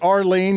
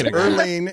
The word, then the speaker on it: Earleen: You did say Arlene. You got her name wrong there.